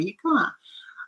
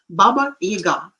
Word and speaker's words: Baba Yaga: for example, this Baba Yaga. We call him Yaga, and somehow it is the stress is falling on the first syllable, which is wrong. Baba Yaga.